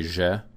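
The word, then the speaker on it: ж: So it's like the Zjeh in pleasure, or in French, je, like je ne sais quoi, Zjeh.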